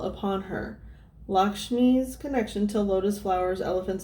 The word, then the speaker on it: Lakshmi: shall be so oh you guys oh it's pronounced lakshmi i'm sorry lakshmi lakshmi is a beautiful and